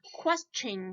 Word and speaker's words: question: here we pronounce ching so sh t i in here t i is pronounced as sh but here t i is pronounced as the chain question question question why because before ti-1 there is a magical letter s so if if there's